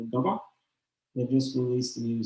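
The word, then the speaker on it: Gabba: So then one of the bands I would recommend is Gaba. Gamba. Gaba. How do you spell that?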